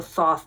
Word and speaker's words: Thoth: Or sometimes people say the Thoth deck. I pronounce it with the hard T at the beginning and a TH at the end.